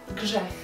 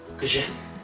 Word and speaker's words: grzech: Grzech. Grzech. Yeah. Grzech.